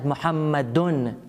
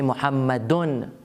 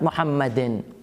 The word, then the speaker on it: Muhammadun: They say Muhammadun, not Muhammadin.